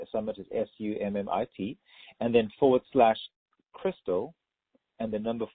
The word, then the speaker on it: Christel: Summit, .com, and Summit is SUMMIT, and then /Crystal, and the number 4, and Crystal is spelled CHRISTEL.